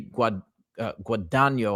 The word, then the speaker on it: Guadagno: And again, I want to start by saying, first of all, this NDE that we're reviewing from Betty Guadagno, I believe is the correct pronunciation.